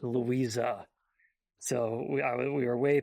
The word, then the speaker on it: Louise: I did realize when I was checking the 35 millimeter print of this movie that Louise in German should really be pronounced Louisa.